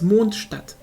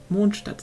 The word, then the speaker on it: Mondstadt: the actual word, like the actual pronunciation of it is Mondstadt. Mondstadt, like the D is a bit hard maybe, but it's not like a hard word, hard sounding.